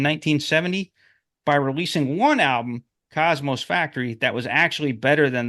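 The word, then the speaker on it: Cosmo's Factory: After the release of Cosmos Factory, not Cosmosis, Cosmosis rhymes with osmosis.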